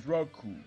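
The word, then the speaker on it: Recoome: My name is Raku. It rhymes with doom.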